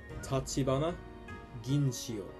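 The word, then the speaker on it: 立花誾千代: First, Ginchiyo Tachibana, as we in the West would say. Ginchiyo Tachibana, pronounced Tachibana Ginchiyo.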